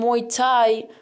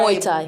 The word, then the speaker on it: Muay Thai: Muay Thai. Muay Thai. Why it's like hard. My dad used to say Muay Thai. Muay Thai. It's like a drink.